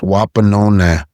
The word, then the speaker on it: Wapanona: So the title of the piece would be pronounced Wapanona, and what it refers to is the Eastern Star or the Morning Star.